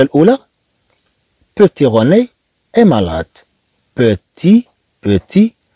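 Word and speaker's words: petit: بيتي روني اي مالاد، بيتي، بيتي، طبعا هنا لا ننطق هذا الطي، لا نقول بيتيت الا في حاله الا ضفنا او.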